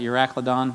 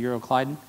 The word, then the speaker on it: Euroclydon: wind called euroclydon and some of you pronounce that you're a clod on I think it's actually euroclydon and when the ship